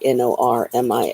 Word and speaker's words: Normia: Remember, Norma and Maria, but combined, Normia is how you pronounce it or spell it.